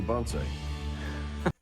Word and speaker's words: bonsai: Get the lady or bonsai.